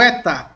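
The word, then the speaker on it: ἦτα: Transliteração, nosso E. Esse tracinho em cima indica que esse E é longo. Como na palavra benigno, observe que o E aqui, ele se torna mais longo, mais demorado.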